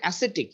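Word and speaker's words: ascetic: ওকে, তারপরে অ্যাসেটিক, এই শব্দটা উচ্চারণ অ্যাসেটিক।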